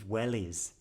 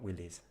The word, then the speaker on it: wellies: like yeah I'm sorry she means Wellies the rubber well is that you put on your feet not Willies but anyway it's kind